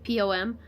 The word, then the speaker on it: Poom: P-O-M.